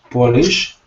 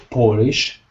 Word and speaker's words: Polish: Because if you say Polish, people will think you're trying to say polish, like I polished my shoes. because Polish has a second syllable stress. Polish has a first syllable stress. Pol, first, lish.